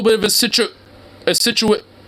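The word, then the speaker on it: Scituate: supposed to be nice it's Massachusetts that's that's really situate it just sounds like you're cutting yourself off from same situation it's like hey we got a little bit of a situ a situate it's like I thought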